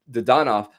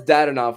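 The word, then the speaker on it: Dadonov: you were talking about getting um evgeny the the don off i mean i know i know you had to change the pronunciation is that what i heard yeah he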